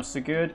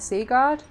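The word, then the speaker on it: Sigurd: portion of the trailer as sigured now sugude is the oh is that how you say it I said sea guard uh as for s-i-g-u-r-d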